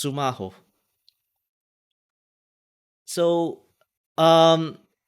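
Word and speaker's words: スマホ: break PL oh um this is how it's pronounced sumaho so uh um it's a function of time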